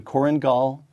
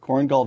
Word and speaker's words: Korengal: combat team making five trips five to the corang am I pronouncing that correctly that's right cornal Valley of Eastern Afghanistan a location that saw